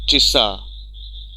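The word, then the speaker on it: часа: Though it is written cha a s a, spelling will be cha a s a, but it is pronounced chissa.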